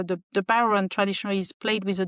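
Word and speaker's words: bodhrán: And my mom said, well, you know, I have this power and I traditional Irish drum spelled Bodran, but it's pronounced Baron.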